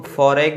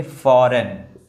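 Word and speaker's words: foreign: Silent हो गया। इसको हम फॉरेग में नहीं पढ़ेंगे। अब ये जी जो है वो साइलेंट है। इसको पढ़ेंगे फॉरेन।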